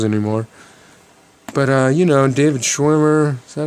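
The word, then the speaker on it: David Schwimmer: don't do those anymore but uh you know David schwimer is that how you say his name yeah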